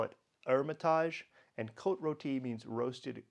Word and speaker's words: Hermitage: Hermitage and coat roti the French don't pronounce the h so we would see it as Hermitage but they call it Hermitage and coat Roti means